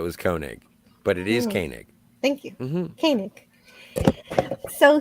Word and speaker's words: Koenig: it was written by Walter konink and directed by Hal Sutherland first things first if I may uh Walter koenig's last name is pronounced Koenig Koenig yeah he pronounced it